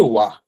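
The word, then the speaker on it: を: আচ্ছা, ওটা হচ্ছে আমরা পরে দেখবো। তো এটা হচ্ছে ডাব্লিউ ও, ও। এটার উচ্চারণ যা, আর এটার উচ্চারণ কিন্তু তাই হবে।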